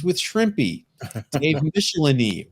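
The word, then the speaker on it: Michelinie: Dave Michelini, rhymes with Tickle My Knee.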